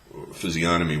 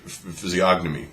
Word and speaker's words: physiognomy: G or not apparently the British pronunciation is what I'm using physiognomy where the G is silent the American pronunciation pronounces the Jesus physiognomies but I don't like